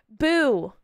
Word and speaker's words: Boo: Which, if you actually spell that out, it's boo. Like ghost.